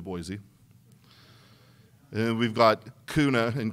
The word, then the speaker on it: Boise: them any trouble because we're Boise when it's clearly Boise and we've got kuna